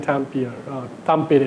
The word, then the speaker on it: Tampere: So for Nokia, a lot of their research is actually done at a place in Tampere actually, that's how they pronounce it.